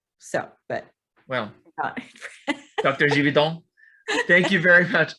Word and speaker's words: Gividen: The real quick, it's Gividen. Gividen. I have been That's okay. mispronouncing your name for all this time. That's okay. It's common. It's French. The G sounds like a J. So if we were in France, it'd be Gividen.